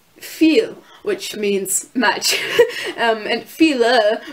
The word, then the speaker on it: viel: And then there's EI, which makes the I sound, so like an eigentlich, which is actually, when you see I and E, it's the E sound, like in viel, which means much, and